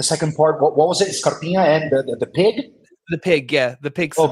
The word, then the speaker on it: Scarpinha: Can I ask, though, can you explain to us the nickname Scarpinha? I'm saying it right. It's a bit of a ye at the end, isn't it? It's Scarpinha.